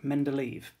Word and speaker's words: Mendeleev: The final scientist we're going to look at in this video is Dmitri Mendeleev, or sometimes pronounced Mendeleev.